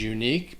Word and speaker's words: unique: word is unique and the pronunciation of this word is unique because that letter u sounds like you are just saying the actual name of the letter u unique the q u e at the end has a k sound uh like a k sound unique and then there is